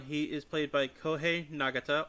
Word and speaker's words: Nagata: Ridoki, who's the red Gavan, he is played by Koh Nagata or Nagada, I'm not sure how you pronounce that. I think it's Nagata. Um, Setsuna Aiko Kuin is uh played by Ryuga Akahane.